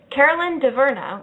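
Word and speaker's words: Caroline Dhavernas: And first up, Carolyn DeVerna, which is how it's pronounced in the English-speaking world. I'm not going to pretend to know how to do the French-Canadian.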